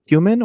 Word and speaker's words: Kumin: Is it Kumin or how do you pronounce that? You got it. First time. Kumin, like the spice.